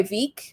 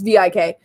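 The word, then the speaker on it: Vík: like do you know are you guys by vik or i'm i think that's how it's pronounced it's vik and we're like yeah we're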